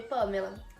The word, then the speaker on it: Pamela: Então, por exemplo, o meu nome, Pamela, a divisão silábica seria pa-me-la. E teria, no caso, uma sílaba tônica, que no caso é o pá.